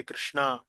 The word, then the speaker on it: कृष्णा: इसलिए, सही उच्चारण है 'हरे कृष्णा, हरे कृष्णा, कृष्णा कृष्णा, हरे हरे, हरे रामा, हरे रामा, रामा रामा, हरे हरे'।